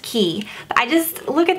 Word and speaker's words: Quay: Quay by Shay but I looked on their Instagram and it says pronounced key but I just look